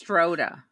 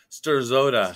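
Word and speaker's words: Strzoda: It's Stroda. So the Z is silent.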